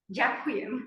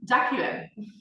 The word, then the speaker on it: Dziękuję: Now you're going to teach me how to pronounce it. Dziękuję. Dziękuję.